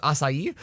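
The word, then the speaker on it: açaí: to customers about pronouncing apparently it's acai because it's it's that weird like portuguese sea it's got a portuguese yeah it's just like a soft sea not a hard sea and it's like who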